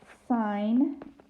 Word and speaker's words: sine: this goes cosine, cosine, sine, and we spell it, it sounds the same, okay, but we spell it with S-I-G-N, and then sine, sine.